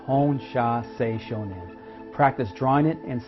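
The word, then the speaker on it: Hon Sha Ze Sho Nen: the you silly distance healing simple it is pronounced hone sha say Shoshone practice drawing it and saying it without the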